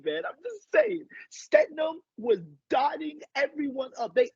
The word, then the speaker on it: Stidham: His last name is Stidham, not Stetham or whatever.